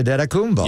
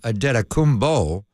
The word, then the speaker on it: Antetokounmpo: But then I call him Antetokounmpo because that's the Nigerian pronunciation. The Greek pronunciation is Giannis. I can't even say it. The second word's a P. Antetokounmpo, isn't it? Antetokounmpo.